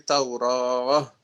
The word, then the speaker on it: Taurah: Tauratu dibaca ketika berhenti Taurah.